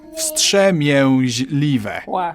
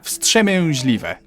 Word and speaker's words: wstrzemięźliwe: Wstrzemięźliwe. Wstrzemięźliwe.